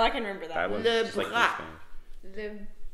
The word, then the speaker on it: bras: Le bras. Like le bras. Bras. Is that like skin bras. Or something? Bras. Bras. Bras. Bras. No, that's what bras. That's the sound. Bras. Oh, it's the R.